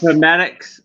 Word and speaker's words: Appomattox: Okay, Aaron might have to help me with the pronunciation of this one. APP. Oh, Appomattox. Appomattox.